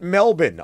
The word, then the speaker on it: Melbourne: As we learned this morning, the locals pronounce it Melbourne, Australia, as they get ready to take on the bitter divisional rivals in the San Francisco 49ers.